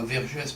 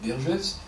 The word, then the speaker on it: Vergès: À Nouméa, Vergès, non pas Vergès mais Vergès, se prononce à son tour pour le ralliement à de Gaulle.